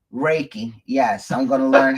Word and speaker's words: Reiki: to do meditation and something called Reiko Reiko raiki Reiki yes I'm going to learn how to do